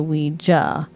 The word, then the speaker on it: Ouija: But you pronounce it with a hard jaw, so Ouija.